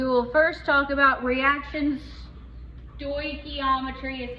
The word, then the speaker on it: stoichiometry: Stoichiometry is how you say that word. Stoichiometry.